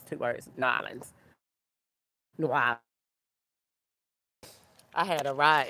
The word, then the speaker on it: New Orleans: I'm from New Orleans. No, no, they call it. They told me it's not that. No, Nolans. they It's said it Nolans. Nolans. Yeah, Nolans. It's two words. Nolans.